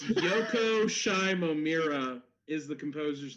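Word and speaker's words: Yoko Shimomura: right oh damn it it's Yoko shimomira is the composer's name I would have never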